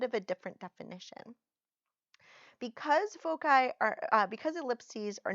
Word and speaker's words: foci: have the two foci foci is one of the ways that you can pronounce focus in plural the other is full side both are okay so if I started